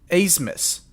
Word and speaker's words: Abmas: We were playing Oral Roberts, and their best player, his last name is like Abmas. He pronounces it Asmus.